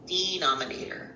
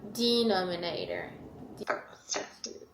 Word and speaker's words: denominator: And, the accent is on the D. Denominator. Denominator.